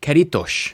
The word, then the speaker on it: Caretos: Portuguese. It's Caritos.